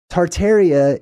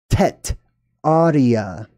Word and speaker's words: Tartaria: just a skosh okay tartaria is a mispronunciation however it still works I'm going to explain what I mean by that the original word was not tar Taria it was tet Arya and those who lived